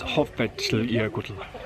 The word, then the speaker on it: Hoffell: This is Hoffell. That's a really difficult name to pronounce. The place name is Hoffell, and then because it's the glacier, it's Jökull, and then there's an S in between, so it's Hoffell.